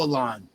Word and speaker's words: Alain: Alan, am I saying your name right?